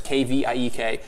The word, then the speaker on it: kveik: It's called it's a Norwegian Kveik yeast. It's Kviek. It's pronounced Kveik, and it's very tolerant of all temperatures.